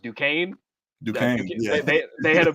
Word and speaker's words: Duquesne: that first round, I know you said it's pronounced Duquesne. Duquesne, yeah. They had a big win. Duquesne. I thought I said Duquesne.